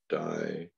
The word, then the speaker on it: diastole: The contraction part is called systole. And it is pronounced systole. And the relaxation part diastole, which is pronounced diastole. So you'll hear people say systole and diastole all day long.